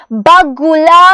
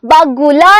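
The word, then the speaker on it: बगुला: ഓർമ്മയുണ്ടല്ലോ നമ്മൾ എടുത്തപ്പോൾ പറഞ്ഞതാണ് വെള്ള കൊക്കാണ് വെള്ളക്കൊക്കിന് നമ്മൾ ബഗുല എന്നാണ് ഉച്ചാരണങ്ങളും കൂടി മക്കൾ ശ്രദ്ധിക്കണം ബഗുല എന്നാണ് പറയുന്നത് അല്ലെ എന്താണ് ബഗുല എന്നാണ് കൊക്കിന് നമ്മൾ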